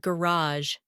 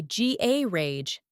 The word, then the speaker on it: garage: American English tends to stress the final syllable, And British English often stresses the first. The classic is ballet. I say ballet. and I say ballet, How about garage?